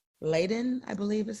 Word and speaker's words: Leiden: Now, this person has factor V Leiden, I believe is how we pronounce Yes, Leiden.